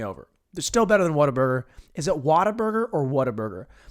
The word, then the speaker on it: Whataburger: It's not Watt, like Watt's riot or the wattage on that light bulb. It's what? Like, what a great burger.